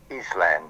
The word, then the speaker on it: island: And of course, from that you get island or island. Now, why isn't the S pronounced in the word?